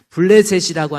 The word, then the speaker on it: 블레셋: 블레셋이라고 하는 히브리적 발음, 영어 발음이 팔레스타인이에요.